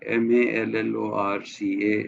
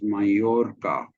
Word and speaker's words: Mallorca: French as you write if you write a Double L it is yeah okay m-a-l-l-o-r-c-a is mayorka it's not Mallorca it's Mallorca and E